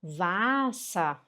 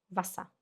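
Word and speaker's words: Wasser: Se você falar vassa, a pessoa vai te entender. Mas tá errado. É vassá.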